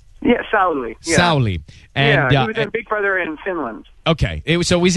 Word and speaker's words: Sauli: Sauli? Yeah, Sauli.